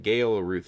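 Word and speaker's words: Galeruth: there and out of game how do you spell that uh gail uh like gail ruth so g-a-l-e-r-u-t-h thank you so much for this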